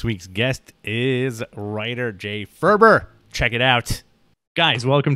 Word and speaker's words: Faerber: right you did awesome how how botched does your last name get it's i mean it's usually farber or or ferber okay and i'm used to it but now i just try to get out ahead of it sometimes it's uh it's i don't usually interrupt people to correct them um yeah because it is pronounced differently than the way it's spelled that's interesting my last